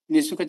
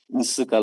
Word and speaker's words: Nsuka: Nisuka. Yes, Lordship. Oh. The pronunciation sounds different, so that is why. Okay. How do we pronounce it? Nsuka, Lordship. Not Nisuka.